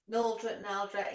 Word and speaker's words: Naldrett: Naldrett, it gets Naldrett. both.